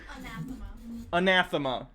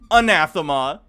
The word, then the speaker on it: anathema: It's soft A sound. The second A is pronounced the same as an apple.